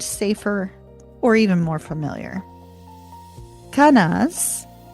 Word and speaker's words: Kenaz: Kenaz, spelled k e n a z, is the torch of uncontrolled fire, the light of understanding.